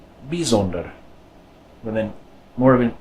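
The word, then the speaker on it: bijzonder: another one of those exceptions this word is pronounced bees older bees older and then more of an e sound this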